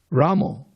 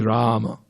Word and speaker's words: Rama: is this Ramo Ramo with an O at the And uh you are spoiling the movement. The proper pronunciation is Rama.